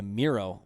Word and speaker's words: Mireau: go to uh youtube and type in miro and the last name is spelled m-i-r-e-a-u okay that's what i wanted you